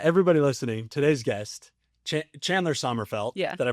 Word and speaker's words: Sommerfeldt: Everybody listening, today's guest, Chandler Srfelt. Did I pronounce it right?